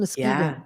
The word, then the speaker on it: Muskegon: So Well, here's someone from Michigan saying Mm, hello from freezing Muskegon, Michigan. Where's yeah. Muskegon?